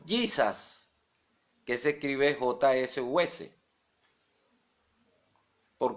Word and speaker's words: Jesus: Jesus, que se escribe Jesús. Y no se pronuncia Jesús, sino Jesus. Como la palabra junior, que es una palabra inglés, que se pronuncia junior, porque la J en inglés es Y.